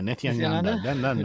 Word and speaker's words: Nithyananda: name I am not going to try and pronounce. Nithyananda. Nithyananda? Nithyananda. Yes. Nithyananda? Yeah, Nithyananda.